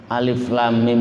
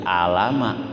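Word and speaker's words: الم: Karena ini terpotong-potong ataupun terpisah-pisah yang kemudian dijadikan satu kata, maka cara membacanya itu sesuai dengan huruf hijaiyah. Jadi membacanya bukan berdasarkan harokat. Kalau membacanya berdasarkan harokat, maka bacanya jadi alama, gitu.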